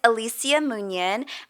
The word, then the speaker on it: Alicia Munyan: are you from okay so my name is Alicia munyan and I'm from New York born and raised